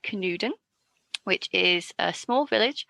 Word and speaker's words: Canewdon: I've looked up how to pronounce it, and I think I'm going to do it right. Canewdon. Canewdon. It looks like a Welsh name.